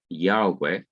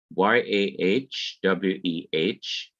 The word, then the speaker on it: Yahweh: possible pronunciations of it number one is yahweh y a h w e h and the second one is y a h a w e h yahweh okay so we still